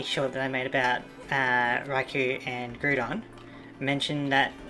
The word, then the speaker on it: Raikou: And if Google kind of Translate and the better searching is to be believed, it should be pronounced Raikou and Garudon.